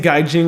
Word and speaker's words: Gaijin: yeah they do be saying Gaijin with a hard G because that's apparently that's